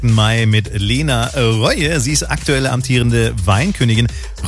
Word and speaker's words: Roie: Aber eigentlich wird es Reue ausgesprochen.